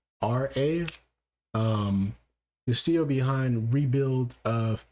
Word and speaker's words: Khara: Studio Kara, I believe I'm pronouncing that right. It's Khara.